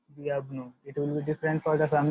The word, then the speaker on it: bienvenue: Welcome will be delivered as bienvenue. Bienvenue.